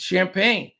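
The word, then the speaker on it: Champagnie: had trouble saying chump how do you pronounce it but it's champagne champagne uh he's a rookie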